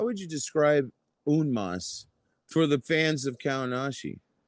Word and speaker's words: En Masse: So it's a French phrase. Its origin is French. So the proper pronunciation is un mas, Un but Masse. people could say in mass.